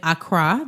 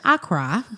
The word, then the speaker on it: Accra: I said Accra, like the American. I got corrected when I was there. Accra. Yeah. That's how they say it.